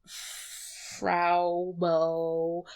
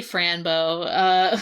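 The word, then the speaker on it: Fraw Bow: cuts to like Amuro and Fraubo. I keep wanting to say Franbo.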